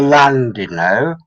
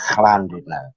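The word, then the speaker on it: Llandudno: n d u d n o it's not a land you know it's landed no Double L is pronounced with my English Welsh sounds like a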